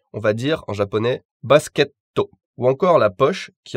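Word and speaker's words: バスケット: On appuie, si vous voulez, sur le son T plus que sur le son TO lui-même. Pocketto, et non pocketto. Basketto, et non basketto.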